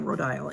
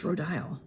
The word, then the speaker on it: Rodial: So, but it's Rhodile. So Rodial, I think that's the way you're supposed to pronounce it, is Rodial.